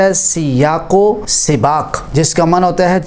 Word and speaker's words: سیاق و سباق: پر تلفظ کرتے ہیں۔ ہم اکثر 'ی' پر فتہ (زبر) استعمال کرتے ہیں، لیکن اس میں 'ی' اور 'دیکھا' کے نیچے کسرہ ہونا چاہیے۔ لفظ " سیاق و سباق" ہے، جس کا مطلب